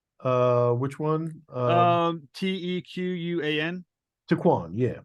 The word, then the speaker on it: Tequan: saying it correctly uh which one uh um t-e-q-u-a-n Tequan yeah it's a Quan and I believe